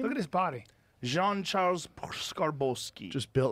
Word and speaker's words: Jean-Charles Skarbowsky: Jean-Charles Skarbowsky.